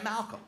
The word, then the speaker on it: Malcolm: I just say Malcolm. I don't pronounce the first L.